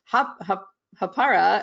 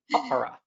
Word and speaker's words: Hāpara: So I spent 2 years saying it Hapara, and then I went on to the community and got schooled in how to pronounce it the correct way.